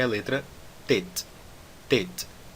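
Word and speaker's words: טית: Tet. Não é Tet, mais uma vez, é Tet. O som do Tet é o som T de tatu.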